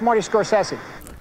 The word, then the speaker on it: Scorsese: you say I have a clip of scorsi pronouncing it for you guys can you roll it hey it's Marty scorsi there you go that Marty scorsi Marty scorsi